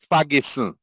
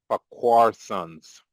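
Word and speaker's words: Farquharson: It is not pronounced Ferguson or Fakis or Ferguson as some people pronounce it in Jamaica. We are the sons of Lord Fakquar. So we are addressed as Fquar sons.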